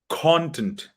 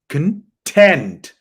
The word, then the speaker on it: content: say khan after me content stress on the first part the voice goes up here repeat after me please